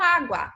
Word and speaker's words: água: A mesma coisa acontece com água. Água, última, penúltima. Portanto, é uma palavra paroxítona, porque a sílaba tônica, que está em verde, tem esse acento dizendo eu sou tônica, tá?